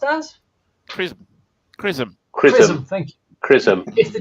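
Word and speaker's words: XRISM: But it depends if the Japanese, how is it pronounced as? Chrism.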